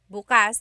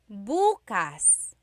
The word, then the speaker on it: bukas: If you say bukas, bukas the emphasis is on the second syllable that means open. If you say buas emphasis is on the first syllable that means tomorrow.